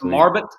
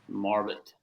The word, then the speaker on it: Marbut: Do you don't have any weird pronunciation of your name, do you? No, you nailed it. All right, sweet. It's Marbut. Yep. Marbut.